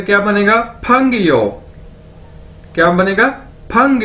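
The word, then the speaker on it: péngyou: को इकट्ठा कर दिया जाए तो क्या बनेगा, फंग यो, क्या बनेगा, फंग यो फंग यो, और इसका मतलब क्या है, फ्रेंड यानी दोस्त, फंग यो, कैसे, फंग यो दोस्त।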